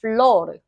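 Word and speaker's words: flor: 플로르 플로르 플로르 플로 어 우리 아까 전에 가운데 운이 꼬르니요 할 때도 르라고 발음했었는데 여기도 똑같습니다. 같이 읽어 보실게요. 플로르 플러 플로 플로 기억해 두실 거 아 레가 문 그 단어의 가운데 들어가거나 제일 뒤로 들어가면은 얘는 그냥 르소 소리가 나는구나 편하게 그니까 아닙니다.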